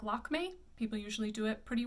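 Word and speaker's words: Lakmé: This opera looks like Lakme. People usually do it pretty well, Lakme, but it's Lakme. It's a little more closed. There's the accent aigu again.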